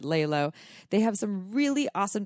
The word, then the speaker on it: LELO: said this right layla it's l-e-l-o but we pronounce it layla they have some really